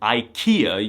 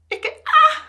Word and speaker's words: IKEA: And before I wrap up the pronunciation section, I want to correct all you Americans out there who have been calling it IKEA your entire lives.